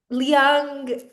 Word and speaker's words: Leung: Yes, is that how I pronounce it correct? Yes, Yes, I mean Leung, but Leung. Yes. Leung, yeah, it's all good.